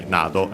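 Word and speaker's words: など: Nado on its own is accent on the last, on the first syllable. I wanted to say Nado, as I was pronouncing.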